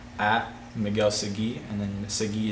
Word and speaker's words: Segui: My Instagram handle is at Miguel Segui, and then Segui is spelled S-E-G-U-I, but there's an extra I at the end.